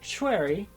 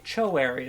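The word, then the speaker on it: Choerry: fine that's good enough you can also say cherry with like a little bit of a what sound in there because that's you know I think just a little bit closer to the authentic pronunciation the reason why if you listen to someone pronouncing her name in Korean and you maybe can't hear the W is because it's really soft if you say cho area though it's not a big deal but it is wrong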